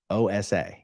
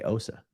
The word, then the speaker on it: OSA: And you're like, yeah, no Scientologist in the history of this sector of the galaxy has ever said OSA, because that's not how it's said. You say OSA.